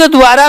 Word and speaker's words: द्वारा: जबकि आप लोग समझते क्या हो, आप इस द को पूरा समझते हो और वे को आधा, लेकिन होता क्या है, द आधा होता है और वे होता है पूरा।